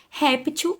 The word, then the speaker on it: réptil: Réptil, onde está a penúltima sílaba aí? No ré, né, gente? Então, nós vamos acentuar aí o é, né? Bom, ré, já sabemos que se trata de o quê? De um som aberto.